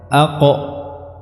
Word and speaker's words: ق: Cara mengeluarkannya dengan merapatkan keduanya antara lidah dan langit-langit. Aqo. Dan sifatnya adalah syiddah, artinya dia tidak ada udara yang keluar saat pengucapan huruf ini, bukan aqo, ko, khi, ya. Ini adalah sebuah kesalahan.